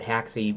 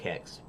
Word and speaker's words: Haxe: I usually call it Haxe, because it's HAXE, and that makes the most sense to me rather than saying hex, because it doesn't look like hex, HEX, but it's pronounced like hex.